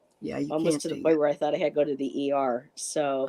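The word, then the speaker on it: Tighe: How do you pronounce last Teague? Oh, T.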